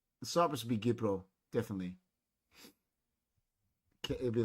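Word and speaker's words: Κύπρος: Gipro, we say.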